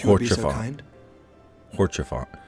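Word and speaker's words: Haurchefant: Which reminds me, Lord Orchefant, if you would be so kind. Horchefant. That's how you say his name.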